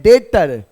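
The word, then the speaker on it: debtor: और इसको प्लेट हैं डेटर दी जो है बच्चे ये बी साइलेंट है ये बी जो है साइलेंट है ठीक ना डाटा या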